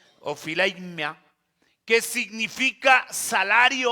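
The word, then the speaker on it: ὀφείλημα: aquí aparece una palabra del griego que se pronuncia ophileimia, que significa salario o pago.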